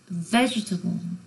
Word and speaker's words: vegetable: Vegetable 액센트는 처음에 옵니다. Vegetable 그래서 vegetarian diet 그러면 vegetable는 액센트가 맨 앞에 오는데 vegetarian은 뭘까요?